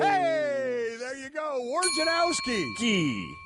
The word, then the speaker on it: Wojnarowski: Wojnarowski. Is that correct, Hembo? That is. Wojnarowski.